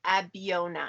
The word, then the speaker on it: Abeona: and how did you end up at abiona is that how you pronounce it at biona yes correct yeah so i'm the vice